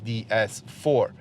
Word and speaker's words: DS: f4 um i repeat i am saying they say because this is how it's supposed to be pronounced they say in french comes from goddess so you're supposed to say they say but i know most people will say ds4 um that said i hope